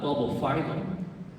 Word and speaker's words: Bulbophyllum: The only time it's pronounced phylum is in the word phylum, which is a taxonomic classification. So if you see phylum within a genus name, it's always pronounced phylum.